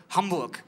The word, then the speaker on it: Hamburg: Im Deutschen ist es anders. Kuchen, Käse, Hamburg. So, ihr merkt schon sofort, worauf ich hinaus will. Stammbetonung heißt, in der Regel wird der Stamm betont in deutschen Wörtern und in der Regel ist der Stamm die erste Silbe.